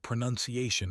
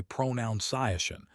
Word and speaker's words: pronunciation: It's the word pronunciation itself. Letting that irony land. So many people say pronunciation as if it comes directly from the word pronounce. But it doesn't. It's pronunciation. Pronunciation.